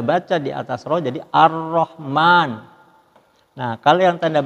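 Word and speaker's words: ar-Raḥmān: ada di grup roh jadi cara membacanya ar-rahman ini kalau seperti dalam bahasa Indonesia tanda tas di seperti Huruf roknya itu Arabnya airnya itu dua huruf dicuri ar-rahman seperti itu Nah ini yang tanda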